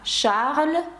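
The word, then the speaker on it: Charles: його ім'я Ось так Шарль Азнавур ви вже бачите тут багато правил звук ш Шарль ви бачите що с пишеться але не вимовляється і ви бачите азнавуг р наприкінці яке вимовляється це та приголосна яка вимовляє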